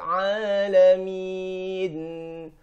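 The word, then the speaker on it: العالمين: Alhamdulillahi Rabbil Alamin. Di sini ada huruf ain. Kebanyakan orang mengubahnya dengan huruf hamzah. Alhamdulillahi Rabbil Alamin. Sudah jelas di sini huruf ain, bukan huruf hamzah.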